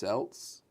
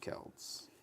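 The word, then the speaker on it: Celts: Um, apparently it's pronounced Seltz and not Kelts.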